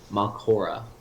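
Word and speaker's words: Mallorca: Mal- how do you pronounce that? Just, Malcora.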